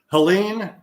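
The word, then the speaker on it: Helene: you you told me how to say this Helen yeah okay yeah Helen and that's the one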